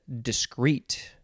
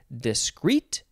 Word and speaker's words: discrete: the next word is discrete adjective from uh the 14th century you can emphasize either syllable discrete or discrete number one constituting a separate